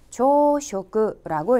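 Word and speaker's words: 朝食: 원래 이 한자들이 가지고 있는 음도 그대로 가져가서 조쇼크라고 읽어주시면 되겠고요.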